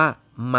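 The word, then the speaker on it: 妈: คำ นี้ อ่าน ว่า มา เพื่อ นะ เพราะ วรรณยุกต์ มัน ออก เสียง ว่า มา คำ นี้ อ่าน ว่า มา วรรณยุ มัน เป็น เสียง สามัญ นะ เนาะ อ่ะ ค่ะ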